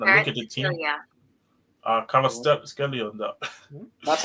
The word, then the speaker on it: Kvaratskhelia: And when you look at this team, based on profiles and everything, when I look at the team, Kvaratskhelia on that. That's how to pronounce his name.